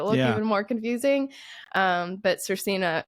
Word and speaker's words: Svrcina: came to America, because the pronunciation is supposed to be like Svrcina, and there are a few other letters in it that make it look even more confusing. But Svrcina, it's been spelled that